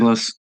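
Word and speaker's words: Chambliss: Trying to pronounce with Trinidad. Shamblas. Chamblas.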